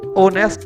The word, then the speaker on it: honest: Rajat is a hard worker and honest boy. ओ नेक्स्ट H silent है बच्चों, इसलिए इत्थे असी एन लगावांगे।